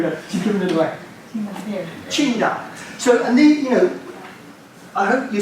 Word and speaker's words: Qingdao: If you buy the beer over here, it'll say on the label Tsingtao. Right. That's the way Charles thing. When you're next in China, pronounce it Qingdao when you order one, and they'll go, yeah.